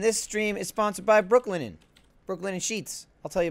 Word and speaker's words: Brooklinen: And this stream is sponsored by Brooklinen. Brooklinen Sheets. I'll tell you about them later. It's like Brooklyn. I slept on them last night, but it's not spelled like Brooklyn.